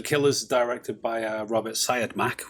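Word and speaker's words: Siodmak: uh robert syed mack which is i think that's how you say it but it's one of the most contentious surnames in the whole of filmmaking i think but syed mack is how i usually say it uh we'll have to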